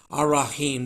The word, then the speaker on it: Ar-Rahim: If you write the letters out, it's AL-Rahman and AL-Rahim. But if you're replicating the sound of the words, then you want to shift that L to R, as we have it here, Ar-Rahman, Ar-Rahim. That's the right way to say it.